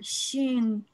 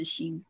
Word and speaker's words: xin: Xin, it's the Chinese word xin. So basically, Shin is S-H-I-N is pretty much spot on Yep. in terms of pronunciation.